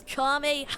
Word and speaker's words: Kamehameha: Dude, you're not even saying it right. It's Kamehameha.